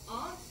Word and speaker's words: aunt: So we have ants, and I'll say it the way it's properly pronounced. So we have aunt, Aunt. aunt, Aunt. aunt, ant, And. Aunt. And. Aunt. Okay, so Aunt. And. this Texas. People will say ant, And.